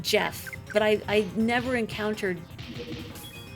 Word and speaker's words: Geff: I encountered someone who spelled their name g e f right a gef I mean they pronounced it Jeff but I I never